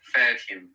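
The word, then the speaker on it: فاهم: So you can think of here and reproduce that sound. Fahim.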